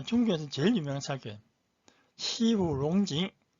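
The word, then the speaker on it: 西湖龙井: 시후롱징 따라하세요. 시후롱징. 자, 중국 발음 모르신 분들은 제가 한국어로 시후롱징 이거 따라하시고, 그 다음에 한자 발음은 서호용경차.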